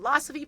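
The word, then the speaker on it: Losophe: It's called Losopy pronounced like philosophy.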